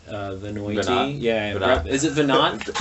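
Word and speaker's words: Veinotte: Well, no, it's just that the match between how it's written and how it's said are not the same at all, right?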